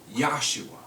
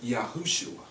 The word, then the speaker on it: יהושוע: these first three letters I want to point out one pronunciation first that this name cannot be but you probably seen it proposed and that is y a s h UA yosua now you'll see some